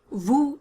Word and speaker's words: vous: to pronounce them first the u sound in vu is not the same as the double o in english it's not the short o of look it's closer to the oo sound of luke but